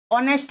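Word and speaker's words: honest: ऑनेस्ट person, ऑनेस्ट person, H silent है, यहाँ पर भी ए की साउंड आई है, तो आ गया एन।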